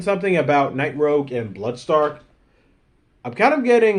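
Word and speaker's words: Blood Stalk: When I was watching the show, his name is pronounced Bloodstark, but everywhere else he's called Bloodstock.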